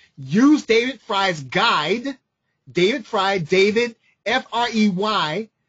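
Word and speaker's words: Frey: What you should do is Google a gentleman named David Fry. David, and Fry is spelled F-R-E-Y.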